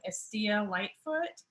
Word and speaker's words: Estilla Lightfoot: introduce yourself and your name and the correct pronunciation and then kind of your official title or titles okay uh i am estea lightfoot and i am a licensed clinical social worker